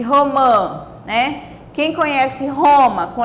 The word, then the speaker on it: romã: E romã, o que é romã? Olha só, já mudou na pronúncia, porque agora eu coloquei o tio aqui em cima do A. Romã.